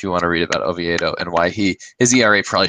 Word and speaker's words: Oviedo: Oviedo.